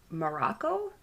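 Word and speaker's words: Marocco: the other researcher andy morocco it's spelled like morocco but m-a-r-o-c-z-o he read and then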